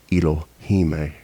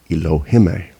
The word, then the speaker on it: Ilohim: Okay, like in the plural form, ILOHIM, Elohime, or you could Elohime. You want to match the I's, first one and the one before the M.